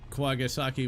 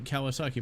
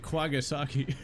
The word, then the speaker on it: Kawasaki: Yeah, you pronounce it Kwagasaki. It's like, where you got the G, I don't know.